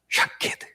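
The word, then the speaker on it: שָׁקֵד: 살구나무는 발음이 샤케드입니다.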